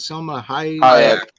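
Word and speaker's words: Salma Hayek: Selma Hayek.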